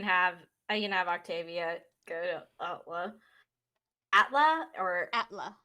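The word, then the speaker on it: Atle: i can have octavia atla or atla it's it's spelled within e but it's pronounced with an a okay a-t-l-e yeah octavia's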